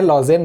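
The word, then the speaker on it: Lausanne: Switzerland के लुसाने में इसका मुख्यालय है। लॉजेन भी उसको उच्चारण करते हैं। तो लॉजेन या लुसाने जो भी आप कहें वहां पर इसका मुख्यालय है।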